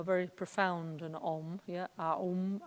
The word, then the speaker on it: Aum: Aum, it's A-U-M actually, Aum, not Om, but we pronounce it Om, yeah?